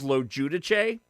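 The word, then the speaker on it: LoGiudice: I mean, listen, my real last name is Lojudiche.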